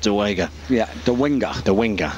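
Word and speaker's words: Dołęga: It is actually spelled De Liga, but pronounced De Wenger.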